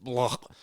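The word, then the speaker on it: Blough: With Chase Daniels, their second one, and blah, being Daniel Blah. yeah, I think it's pronounced Blau, isn't it? But looks like blah.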